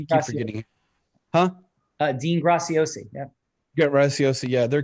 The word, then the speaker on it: Graciosi: his name right dean gracie oc i can't pronounce i'm forgetting huh uh dean graciosi yeah get rice yeah their kbb launch in